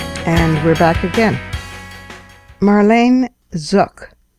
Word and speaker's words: Zuk: Marlene Zuk, rhymes with book, even though it's spelled Z U K, is an evolutionary biologist